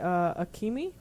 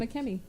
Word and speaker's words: Akemi: but we're gonna say Akemi. That sounds- Akemi. Akemi. Akemi. Akemi. Akemi. So it should be Akemi. Akemi. Like A-K-E-M-I.